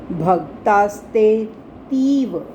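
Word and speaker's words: भक्तास्तेऽतीव: मात्रा भक्तास यहां तक इकट्ठा बोलना है भक्तास्ते भक्तास्ते तीव आगे एस को साइलेंट रखना है हमें हमने एस को साइलेंट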